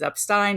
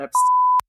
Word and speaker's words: Epstein: hardcore stuff that will prove it is Epstein not EP no matter who tells you